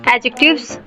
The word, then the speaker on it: adjective: The very first thing you need to know about adjective is that the letter D in this word adjective is silent.